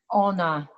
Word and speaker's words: Ona: center oh how do you say the title honor it means she in polish all right so